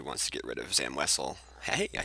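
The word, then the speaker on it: Zam Wesell: that if he wants to get rid of Zam wessell hey I said it right um he has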